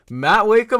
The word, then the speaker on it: Mat Wakeham: Mat Wakeham, how are you doing, sir? I hope I pronounced the name right.